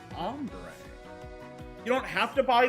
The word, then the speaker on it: hombre: The letter h is silent in Spanish. That's why hombre is ombre.